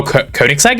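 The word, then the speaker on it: Koenigsegg: Koigseg is not Oh, Koenix is how that's how you pronounce that.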